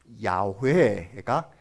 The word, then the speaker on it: 야훼: 그래가지고 아도나이의 모음을 여기에 붙여보았더니 여호와가 된 거예요. 그러니까 아도나이의 모음이 여기 붙어 있어요. 그래서 여호와라는 말이 이 정확한 이름이 아니겠다 해서 학자들이 많이 연구한 끝에 가장 비슷한 발음으로 나는 발음이 야훼가 비슷한 발음이겠다 해서 야훼라고 써진 성경책이 있고요.